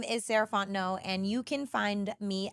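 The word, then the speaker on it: Sarahfont: again my name is saraon and you can find me at Ms sarant no so MSS r a h f o n t n o t the t is silent um that's me on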